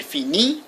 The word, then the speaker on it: finit: Je finis, IS, tu finis, IS, il, elle finit, IT. The T is not pronounced, just the I.